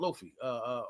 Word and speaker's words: Luffy: He remind me of Luffy, from One Piece. He Luffy. want, You say his name wrong too.